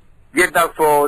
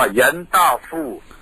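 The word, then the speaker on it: เย็นตาโฟ: ก๋วยเตี๋ยว ชนิด นี้ ไป ถาม ถ่าย จาก โน ฮ เกี้ยน มา ว่า เ ออก เสียง ว่า เย ต้า ฟู่ อ๋อ ฮะ ต้า ฟู่ ก็ คือ เต้าหู้ ครับ ครับ ก็ มี ก๋วยเจี๋ยว ที่ ก็ มี ใส่ เต้าหู้ อยู่ ใน นั้น เนี่ย นะ ที นี้ เรา ก็ มา ออก เสียง ว่า เอ่อ เย็น ตาโฟ ครับ ใช่ อ่า หลาย ต่อ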